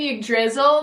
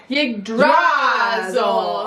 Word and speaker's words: Yggdrasil: Actually, was saying Yggdrasil the whole time, and the homeowner's like, Yggdrasil. So now they say it like that.